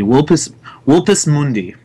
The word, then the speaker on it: Vulpus Mundi: the V would be like a W. In Latin, they pronounced it like a W, so it'd be Vulpus Mundi.